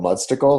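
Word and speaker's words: Mudstacle: there's a website called mud Stickle have you heard of it I've not okay months to go which is spelled like it sounds right like popsicle or what mu DST a CLE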